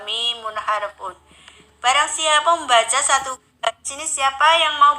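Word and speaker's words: ث: Terus di sini ada huruf sa. Sa itu bacanya ujung lidah dirapatkan dengan gigi atas.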